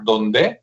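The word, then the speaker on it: Dondé: Ingeniero que se apellida Donde, así como Donde, pero con el acento en la E, que está muy bueno,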